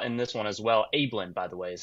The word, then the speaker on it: Abeln: it works out in this one as well ablin by the way is how you pronounced his last found the pronunciation on the